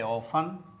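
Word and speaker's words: often: तो दोस्तों यहांकि T silent है तो यहां इ एन को अन पढ़ा जाता है।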